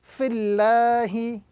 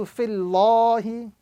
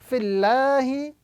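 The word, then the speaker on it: فِي اللَّهِ: So the rule is, if the vowel coming before the word Allah is a kasra, the word Allah must be pronounced with a flat sound. So here we are going to be reciting fillahi as opposed to fillahi.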